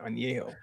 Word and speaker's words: Añejo: I gotta say it right, Añejo.